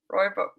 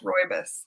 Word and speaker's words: rooibos: have to try that yum okay so your roy bu help me pronounce that roy this rooibos thank you roy miss tea blend um is